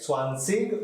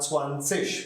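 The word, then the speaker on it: zwanzig: 20 will be foreign now there's IG here it it is pronounced as ish Wan says but you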